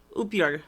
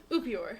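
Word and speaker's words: upiór: We're gonna try pronouncing together. Okay. This that little guy. Upior. Yeah, there you go. Yeah. Upior.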